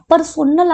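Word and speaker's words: personnel: पर्सोनल aspect. पर्सोनल का मतलब ये पर्सनल नहीं है, पर्सनल और पर्सोनल अलग अलग होता है।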